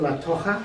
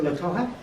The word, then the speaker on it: La Toja: Well, I don't know if you know, but this is the bridge leading to La Toja. Is that the way to pronounce it? Yeah. This is the bridge leading to La Toja, and it's a road which goes straight over.